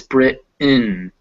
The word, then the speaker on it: Britain: instead of mountain hence instead of britain it's brit in so you can hear